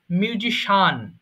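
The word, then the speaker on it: musician: হবে না এরকম নয় মিউজিশিয়ান এটা হবে সিম্পল শানটাকে একটু একটু ছোট করে উচ্চারণ করবো মিউজিশিয়ান মিউজিশিয়ান তাহলে একটু বলছি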